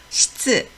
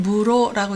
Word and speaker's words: 室: 음독은요. 시츠, 우리나라 말은 실인데 일본어는 시츠, 음독이 상당히 비슷하죠. 실내를 시츠나이라고 합니다. 교실을 교시츠, 교시츠. 옆에 도서실이 보이는데요. 도쇼시츠, 도서관 할 때는 도서관이고요. 도서시츠 할 때는 도서실입니다. 훈독으로는 무로라고 읽습니다.